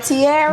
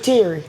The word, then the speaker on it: Teary: Now, your nickname, is it pronounced Teary? What? Or Tiara? Teary. Teary. Teary. My name is Teary, so I go by Teary.